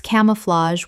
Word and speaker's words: camouflage: Three syllables with the final g e making a z h sound. Example, "The insect's camouflage was so perfect that